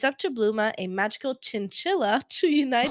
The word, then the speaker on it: Bluma: Bluma. B L U M A. Oh, okay. I was like doing like bluma like a like a like a flower bloom.